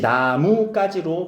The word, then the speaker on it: 나뭇가지: 그치, 나무까지로 발음을 해주면 되지.